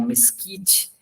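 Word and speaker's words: MSCEIT: para fazer medidas né esse MSC e t a gente pronuncia como mesquite é um instrumento muito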